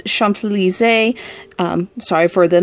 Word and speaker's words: Champs-Élysées: So for our last tea, I ended up phoning a friend, aka Mum, for the correct pronunciation. This tea is Champs-Élysées.